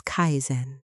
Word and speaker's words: kaizen: The first habit comes from kaizen, pronounced as kaizen, literally meaning continuous improvement through small steps every single day.